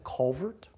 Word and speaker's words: Calvert: And it's not Calvert County, it's Culvert.